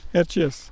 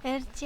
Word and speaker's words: Erciyes: Erciyes, Erciyes est son nom... c'est comme ça qu'il se prononce, comme ça s'écrit, je ne sais pas si ça se prononce pareil.